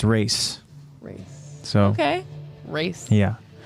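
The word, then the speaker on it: Reiss: the last name and it's not rhys or rice it's actually like race oh race yeah like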